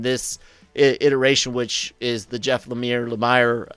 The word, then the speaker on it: Jeff Lemire: iteration which is the jeff lemire lemire i always want to pronounce it like some french name for some reason um but uh because